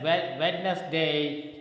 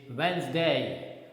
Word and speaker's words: Wednesday: habit of speaking this word as wednesday venus wednesday is wrong the correct pronunciation is wednesday wednesday okay in the same manner when we